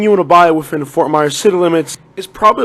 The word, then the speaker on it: Fort Myers: Number 7 is Fort Myers, or how the locals say, Fomada.